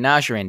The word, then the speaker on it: Najjarine: we have Omar and Nasser in did I say it right yes you did sir fantastic yes good